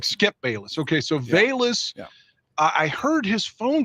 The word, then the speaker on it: Velus: we call him does it starts with the v but maybe it's pronounced with a b is that right oh velus it is bayless i thought i heard